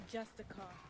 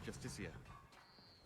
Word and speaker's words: Justiciar: He's a Justicar, a Thalmor. It's pronounced Justicia.